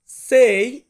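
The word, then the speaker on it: sei: এই ছয় কে আমরা ইতালিয়ান ভাষাতে বলবো সেই সেই মানে হচ্ছে ছয় তারপর আছে সাত সাত কে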